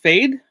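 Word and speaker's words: Fede: It's pronounced Fade. Okay, thank you. What's pronounced Fade? His name of the name of the director. Fade Alvarez.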